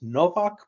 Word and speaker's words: Nowak: It's pronounced Nowak, but it's spelled with a W.